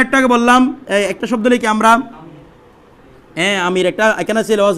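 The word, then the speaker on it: امیر: এখানে ছিল মনে হয় আমির, আমির, আলিফ মিম ইয়ে রে। এই র কেন বলতেছেন? উর্দু উচ্চারণ করবেন তো সবাই। এদিকে আলিফ মিম ইয়ে রে, আমির। ইয়াটার উচ্চারণ কি হয়েছে? ই, এটা হচ্ছে আমির।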